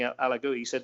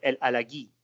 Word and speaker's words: El Alagui: I said, I hear everybody saying El Alagoui. He said, no, El Alagui.